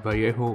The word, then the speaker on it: Vallejo: time for some metallic base coating i'm using vallejo metal color yes that is how you pronounce it by you and this is dual